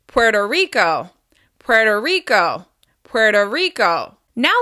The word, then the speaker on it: Puerto Rico: Puerto Rico. As you can hear, the stress is still on the second word. It's on the first syllable of the second word. Puerto Rico.